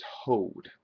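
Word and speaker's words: הוד: Nito the next one is hod which rhymes with rad and is the realm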